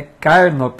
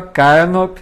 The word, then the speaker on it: Carnop: Eu preciso até te dizer, eu acho que eu tenho pronunciado teu nome errado há muito tempo, né? Eu vi a Lizarbe comentando que é Carnop, né? Eu falava errado. Então, Carnop, vamos tentar acostumar aqui que eu estava pronunciando errado.